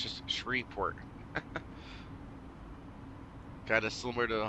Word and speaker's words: Shreveport: it Louisiana don't ever try to call shreport shes port or shreport it's just shreport kind of similar to the whole Louisville the